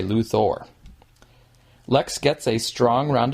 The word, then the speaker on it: Luthor: metropolis by the way this person pronounces it Luther and so that is probably Lex's own preferred pronunciation even though some other characters in the movie say luor Lex gets a strong